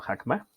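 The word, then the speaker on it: חכמה: Creo que nada está la sabiduría, que en hebreo se pronuncia como hakma, que significa el conocimiento aplicado, utilizado, hablado y transmitido.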